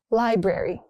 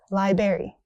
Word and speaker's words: library: Library, not library. It's library.